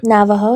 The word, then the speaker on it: Navajo: Navajo. Yeah. Yeah. Okay. Because I tend to mis pronounce that.